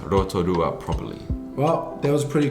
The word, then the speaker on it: Rotorua: how about your hometown hikawa how do i pronounce rotorua properly well that was pretty good margaret but